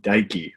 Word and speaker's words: Deike: And today I bring a good friend of mine, holistic life coach, Dr. Levi Deike. Rhymes with Nike.